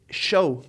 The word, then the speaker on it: SHO: heard of such as the Taurus show or Sho depending on how you want to pronounce it yeah the Taurus SHO